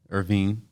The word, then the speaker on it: Irvine: I do want to say it's Irvine. You said it right before. Irvine. Oh, I said it wrong the second time? Yeah, but you said it right when you did the intro, but Okay. the guy say it, yeah, Irvine. He ain't like that shit. But of course it's like Irvine, California. Anyway, so Weldon Irvine, music and mental wellness.